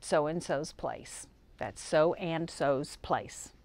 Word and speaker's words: So and So's Place: That's So and So's Place. Emphasis on the second so's, it has an S on it.